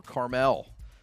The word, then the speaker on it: Carmel: Carmel in Indiana, or Carmel, however you want to pronounce it, 39-0 over Detroit King.